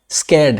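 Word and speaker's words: scared: ये क्या है हमारा स्कैर्ड है स्केर्ड देखो यहां पे क्या दिया गया है स्केर्ड इसको भी आर साइलेंट है इसको स्केर्ड पढ़ते हैं स्केर्ड का मतलब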